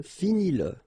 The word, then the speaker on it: finis-le: Remember that if you've got, in some situations, the pronoun le, and if it comes after your verb, like in that case, then you will have to pronounce it. Okay, so regarde-le, regarde-le, all right, regarde-le, écoute-le, okay, écoute-le, so here you pronounce it, and then finis-le, okay,